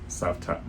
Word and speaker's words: Cavtat: visited a place called Sapat. I call it Kapat. It's it's it's spelled C A V T A T. So it looks like Kavat, but the guy from the local pronounced it Savat.